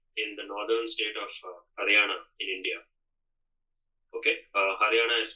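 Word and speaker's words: Haryana: even there today in the northern state of Hariana in India. Okay. Hana is spelled H A R Y A N A.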